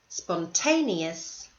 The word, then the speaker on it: spontaneous: bright thorough sensible capable spontaneous conscientious so notice in the last two words these are multi-syllable words and the stress is on the second last syllable okay let's turn our